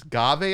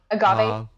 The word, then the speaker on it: agave: Agave, I think is how it's pronounced. I think the A is silent. Agave.